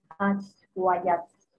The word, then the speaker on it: Ashwayats: Yo al principio sí, también he olvidado la pronunciación de la palabra aswayats, pero sí, lo busqué en el diccionario hindi y puse el altavoz, es como tú lo nombraste, aswayats.